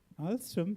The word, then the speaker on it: Alstom: Yeah, Alstom, that's correct. Alstom also rhymes with the word awesome, isn't it? So I'm sure it's synonymous to awesome also.